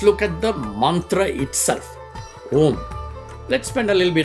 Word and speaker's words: Om: It's If you break the syllable, it's actually a o m, agara ugara makara.